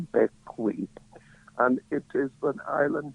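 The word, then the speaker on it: Bequia: Caribbean, in the Eastern Caribbean, an island called Beckley. It is spelled B E UI A, but it is pronounced Beckley and it is an island governed by the island of St.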